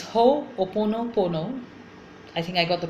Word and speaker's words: Ho'oponopono: And one of the most beautiful practices in Hawaiian shamanism is called Ho'oponopo. I always sometimes get confused with the pronunciation. Okay, so it's Ho'oponopono.